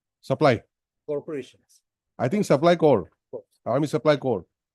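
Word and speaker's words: Corps: corporations I think supply core army supply corp You don't pronounce S. It's called Core. S is not pronounced.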